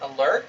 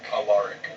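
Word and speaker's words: Alaric: Was it Alur? Allaric. Allaric. Yes. Can you spell that?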